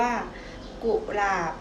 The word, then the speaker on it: กุหลาบ: นะ คะ คำ ว่า กุหลาบ กุหลาบ คำ ว่า กุ ผสม สระ อุ เสียง สั้น ใน แม่ กอ กา นะ คะ ส่วน คำ ว่า หลาบ หลาบ มี ตัว สะกด อยู่ ใน แม่ กบ นั่น เอง ค่ะ ตัว อย่าง คำ